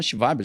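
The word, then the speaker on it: Schwab: Esse termo foi inventado por um cara chamado Klaus, se escreveu né, mas em alemão, Shivab, já que ele é alemão, forum mundial, forum Econômico Mundial, pupilo do Henry Kissinger, né, famoso, né, especialista em diplomacia internacional.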